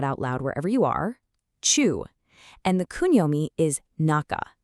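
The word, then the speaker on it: 中: Now, checking the readings from our source, the anomi is pronounced chu. Go ahead and actually say that out loud wherever you are. Chu and the kunomi is naka.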